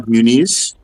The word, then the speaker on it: Muniz: So Omar Muniz, thank you very much, sir. Good evening. I said Muniz. Yeah, I get it totally wrong, by the way.